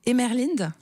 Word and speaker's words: Emerlinde: Alors, c'est une histoire qui se passe à, vous me dites si je le dis bien, Emerlinde. Étant donné que j'ai inventé le nom, donc chaque prononciation... C'est pour ça que je vous pose la question. Vous le prononcez admirablement.